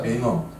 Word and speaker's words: 뱅어: 뱅어. 흰 백자 써서 백어인데 우리말로 이제 앞에 그냥 읽으면 뱅어라고 읽는데요.